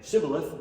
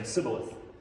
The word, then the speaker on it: shibboleth: that made it so they didn't pronounce the sh sound correctly and it came out as a hissing s sound so instead of saying shibboleth they would have to